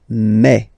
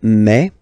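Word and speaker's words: mes: Okay, so for the phonetical or pronunciation aspect of it, then remember that this es here combined will give you the sound e. Okay, so you'll pronounce it like me. Mais, mais, okay, te, so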